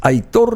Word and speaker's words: Aitor: Aitor no tiene acento, pero se marca el acento en la O.